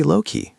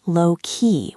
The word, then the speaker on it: low-key: It's not lowkey with the stress at the end. It's usually balanced or slightly stressed on low.